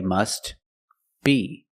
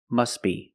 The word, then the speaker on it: must: must be must be if you separate the words and you pause between words then you could say must be but if you link the words you pronounce it must be must be the t is silent because it's between consonants when you link the